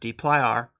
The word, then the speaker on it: dplyr: this is part of the deer package sometimes pronounced d r in the Tidy verse